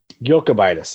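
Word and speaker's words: Jokūbaitis: this one so yeah it's not joe it's yo yoko bite this yes yokobitus okay you're good now all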